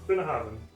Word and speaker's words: Bunnahabhain: Bunnahabhain. Bunnahabhain.